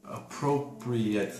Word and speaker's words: appropriate: here is this uh the difference in pronunciation when you use appropriate appropriate as an adjective this appropriate at the end yeah appropriate appropriate is uh not a long a not a long a